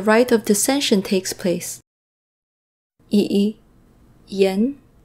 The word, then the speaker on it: Yiyan: Yiyan, Yiyan.